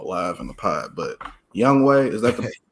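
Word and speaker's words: Younghoe Koo: name on the live in the PO but young way is that the correct pronunciation young way it's young way cou okay yeah young way cou I picked him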